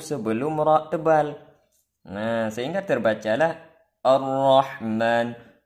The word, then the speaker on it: الرحمن: Sehingga terbacalah Ar-Rahman, seharusnya hamzah wasal tipis, ra tebal, jangan was-shawab tarqiqu hamzah wa tafkhimur ra al-maftuhati bimaharah.